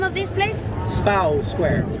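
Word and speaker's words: Spui: Spow Square. Spow. It's spelled Spooey, but it's pronounced Spow.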